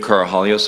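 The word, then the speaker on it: Karahalios: thank you Mr Mather my name is carahallios I'm counsel for the witness Mr Victor the last name is spelled k-a-r-a-h-a-l-i-o-s uh thank you Mr commissioner for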